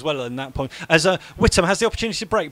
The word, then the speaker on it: Whittam: And is it Whittam or Whittam? I've understood. I've spoken to the boss. It's Whittam. Okay. It's not Wytham.